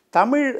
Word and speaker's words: தமிழ்: தமிழ் இந்த ழகர உச்சரிப்பு வந்து உங்களுக்கு நம்ம தமிழ்நாட்டிலே பாதி பேருக்கு வர்றதில்லை, அது வேறு விஷயம். நார்த் இந்தியாவுங்களுக்கு சரியாக வராதுல்ல, தமிழ தமிழன்னு சொல்லிடுறாங்க இல்லையா, அப்போ தமிழன்னு ஆரம்பிச்சிடுறாங்க.